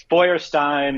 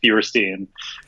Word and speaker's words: Feuerstein: Yeah, it's Feuerstein in the motherland, or here in America, it's just Feuerstein.